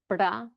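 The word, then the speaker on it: वृद्ध: from my teacher, so she just says it's a one tap. So you shouldn't be trilling. Oh. It shouldn't be like you would in Spanish. It's not perro or something like this. It's just a one tap. So, brda, brda. It's just like a one flick.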